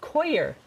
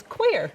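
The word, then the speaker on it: coir: It's spelled C O I R. Okay. Okay. But it's koer. Koer. I always called it core, but I looked it up last night. It's quer.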